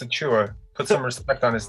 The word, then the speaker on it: Achiuwa: Like you're sneezing. Dude, it's Achiuwa.